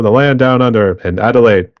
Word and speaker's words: Adelaide: land down under and Adelaide did I pronounce that city right yes adelite yeah adelite okay want to make sure